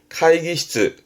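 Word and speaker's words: 会議室: 실내, 발음은 시츠나이, 시츠나이. 세 글자로 많이 붙기도 하죠. 회의를 하는 방의 의미의 회의실, 카이기시츠, 카이기시츠.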